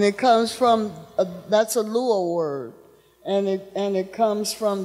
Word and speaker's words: Luo: that's a Luo word, and it comes from the Luo tribe or Luo community, and that's in Kenya.